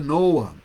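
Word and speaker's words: נֹחַ: Eh, em hebraico, Noé é Noa.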